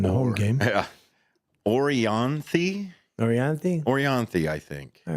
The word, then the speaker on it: Orianthi: But tonight, if you want to catch the 8 o'clock show, how do you say that name? Me and Matt had two different ways of saying it. Let's see here. It's Orianthi.